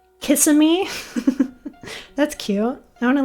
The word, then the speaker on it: Kissimmee: Pronounce this funny Florida city name. Kissimmee.